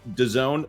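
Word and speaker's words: DAZN: with sports streaming platform I believe that is pronounced Doone the fox streamer will launch fast channels during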